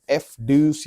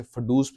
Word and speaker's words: FDUCE: आज हम लोग अनबॉक्स और रिव्यू करने वाले हैं एक माइक को जिसका नाम है एफ ड्यूस या कुछ लोग इसे फडूस भी बोलते हैं।